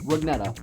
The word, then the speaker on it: Rugnetta: Dovesong1212 wants to know how to pronounce my last name. It's Mike Rugnetta.